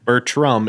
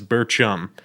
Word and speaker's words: Bircham: the distinct difference everybody when you try and pronounce my last name it is not bertrum it is birchum hey guys don't feel